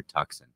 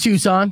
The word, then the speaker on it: Tucson: Canada right yeah nice is it Tucson or toxin it's Tucson because it's spelled toxin yeah the T the sea is